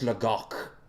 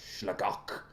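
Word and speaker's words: Sligeach: In Irish, it's Slagok. That's how you say it. Oh. Slagok.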